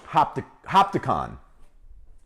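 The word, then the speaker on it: Hopatcong: is hard to say hoppet kong new jersey oh yeah yeah yeah that's that's north that's not far from where i grew up okay is that how you say it though hopticon ah okay uh we have a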